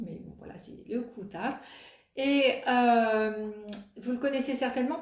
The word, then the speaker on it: Kuutar: C'est le Kutar Wrap de Sari Nordlund. Donc le Kutar, c'est comme ça qu'elle le prononce. Hein. J'ai regardé une de ses vidéos et elle dit Kutar.